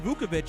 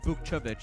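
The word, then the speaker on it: Vukčević: And then also Tristan Vukovic started last night. So did Vukcevic is the way to say his name.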